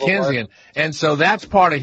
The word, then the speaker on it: Keynesian: Now, is that part of the, what's the guy, K-E-Y-N-E-S, how do you pronounce that? That's the theorist. Keynes. Keynesian, something like that. It's Keynesian, right? Yeah, it's Keynesian.